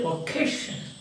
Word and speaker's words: vocation: What's your vocation? Not don't say vocation, but v labio dental waist forget it.